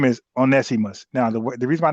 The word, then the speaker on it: Onesimus: guy that Tari went to mention, he he mispronounced the name. He called him one Semos, but his name is Onesimus. Now, the the reason I know about that because I was talking about Onesimus way back in 2019 about African, how white